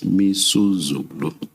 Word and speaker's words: Misuzulu: I mispronounced the king's name. It's Misuzulu.